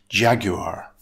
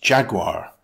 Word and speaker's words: jaguar: In British English, the word Jaguar is a noun made up of three syllables. Stress the first syllable. It's pronounced Jaguar. In American English, it's pronounced with two syllables, Jaguar.